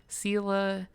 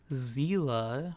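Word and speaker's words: Seele: I heard Sela, Zila, which that sounds a little bit more accurate. Zila with a Z instead of an S.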